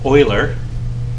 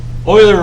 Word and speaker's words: Euler: uh in 1736 and that's pronounced euler i got that one even though there's no o in it but that's okay or i oiler represented the problem as